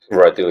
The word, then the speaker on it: Radu: Uh my first name um you can Radu is absolutely perfect. There's a Eastern European way of saying it. Uh but the rolling R sometimes is difficult.